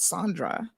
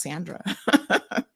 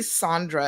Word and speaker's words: Sandra: And we had a good laugh, because I'm like, it's not Sandra, it's just Sandra. So yes, I think maybe Sandra is more of a English pronunciation of it, but there are some